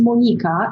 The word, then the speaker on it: Monika: My name is actually pronounced Monika in my mother country of Poland.